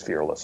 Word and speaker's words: fearless: They want to pronounce it fearless because that's become a very popular word. Oh, what is it? But it's two words.